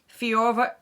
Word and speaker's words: Fiorever: And it is the Bulgari fiorever? Only it is spelled F-I-O-R-E-V-E-R.